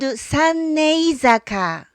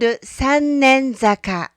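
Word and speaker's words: Sannenzaka: But originally it was called Sannei-zaka. The word Sannei means safe delivery. And Sannei-zaka used to be the approach to the Koyasunoto. Today, the pronunciation has changed a bit and it came to be called Sannen-zaka.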